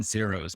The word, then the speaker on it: Xairos: email i said cybros i've been calling in zeros but it's signed rose i zero says yeah that's how we pronounce it also okay so how we're in